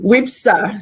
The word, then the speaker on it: WIFPSA: So it feels like the F is silent. Yeah, exactly. Say it again. It's like I don't know how to do F and P together. F is silent. WIFPSA. What is silent? The F? Is the F silent? The F is silent, yes.